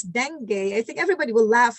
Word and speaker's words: dengue: read this american talk about when somebody says dengue i think everybody will laugh at you but that's the correct pronunciation at the same time so tarpaulin is